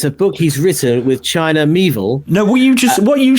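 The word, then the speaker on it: China Miéville: Hang on, how to pronounce China Mieville. Hang on, I'm on how to pronounce stuff. China Mieville. China Mieville. China Mieville. Rhymes with Knievel.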